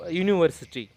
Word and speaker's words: university: comes with A, because it is not pronounced with the vowel sound, whereas the consonant sound comes.